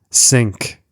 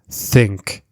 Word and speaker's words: think: Also, watch out, some learners pronounce TH as S, sink, instead of think. So this happens when the tongue is too far back. Move the tongue between the teeth and try again.